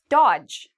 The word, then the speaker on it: dodge: Dodge. Okay, D and G are together, so we get rid of dodge.